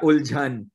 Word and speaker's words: Uljhan: But yeah, Uljhan is the right pronunciation.